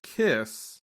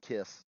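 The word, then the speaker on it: Khyscz: for now i mean i'm sure it's pronounced kiss it is it's the box of kiss k-h-y-s-c-c yeah yeah okay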